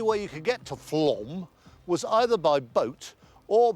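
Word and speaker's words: Flåm: f l a m pronounced Flom it's a Norwegian thing it was a little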